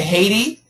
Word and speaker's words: Haiti: I'm sorry, we say Haiti, but we say Taiwan. So, it's the same spelling, but we do pronounce it differently.